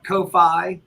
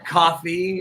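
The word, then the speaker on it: Ko-fi: you can give us a kofi or a coffee if you pronounce it that way k-o-f-i dot com slash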